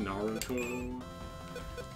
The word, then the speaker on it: Naruto: Super Saiyan Naruto can do I'm sorry it's pronounced Naruto a true oh I hope I can use